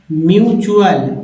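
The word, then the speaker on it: mutual: जैसे सफिक्स आते हैं, तो टी का उच्चारण च होगा। क्या होगा? च। यहाँ पर च उच्चारण होगा, च। कैसे? देखिए, जैसे एक्चुअल, एक्चुअल, फैक्चुअल, म्यूचुअल, देखिए म्यूचुअल, ये देखिए चुअल आ गया।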